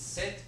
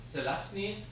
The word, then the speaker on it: Zelazny: There's a book from this guy, very difficult to pronounce. So it's Z-E-L-A-Z-N-Y, Zelazny.